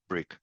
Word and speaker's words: Bryq: Which, by the way, is why we're also called Bryq. And yes, we're pronounced Bryq, not Bryq, even though we're spelled Bryq.